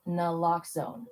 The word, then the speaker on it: naloxone: For the record, it's naloxone. Na, like, is naloxone addictive? Nuh-uh. Lox, like naloxone keeps humans safe, like locks keep bikes safe. And own, like naloxone can save lives in our very own communities.